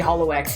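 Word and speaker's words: holoX: was uh Holo X I don't care if you want to pronounce it a different way it's always going to be Hollow X Gen 6 IO is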